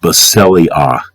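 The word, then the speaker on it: βασιλεία: I as in indigo, A as in Adam, pronounced Basileia.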